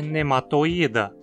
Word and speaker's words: Nematoida: Só que aqui a penúltima sílaba é apenas esse i, e ele na verdade é um i longo. Então a pronúncia adequada deveria ser nematoida.